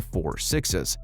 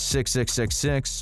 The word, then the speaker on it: Four Sixes: four digit number and people are officially calling it The Four sixes now don't go on pronouncing it as 666 or 666 because we've already told you what's the right way of saying it we're expecting the